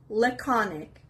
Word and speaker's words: laconic: ninth word is laconic laconic the veress is on the second syllable laconic it's a adjective